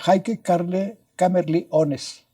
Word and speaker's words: Heike Kamerlingh Onnes: de teoría, pero buen experimentalista, que se llama Heike Kamerlingh Onnes. Así se escribe y así se pronuncia. Y entonces él estudió en Heidelberg. Heike Kamerlingh Onnes estudió en Heidelberg.